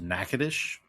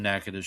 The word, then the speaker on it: Natchitoches: And apparently the hardest word for them to pronounce was Natchitoches.